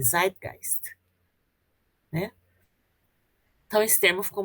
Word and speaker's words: Zeitgeist: É assim que se pronuncia, Nicole, Zeitgeist.